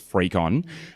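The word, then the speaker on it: FreakCon: It's called Frecon. Um, it happens to be free. you, it's free. Um, but it's spelled like you're a freak, like f r e a k o n. Um, and that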